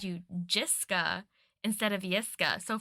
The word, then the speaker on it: Jiska: So for like years, I was calling you Jiska. And then when we had that meeting with your research team and my research team, your like one of the research leads pronounced it Yiska. And I was like, oh no, I've been saying it wrong.